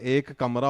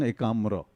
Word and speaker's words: Ekamra: festival because a Punjabi guy like me can't pronounce it sir it's what is it you know first I thought it was a kamra or something so then I I may offend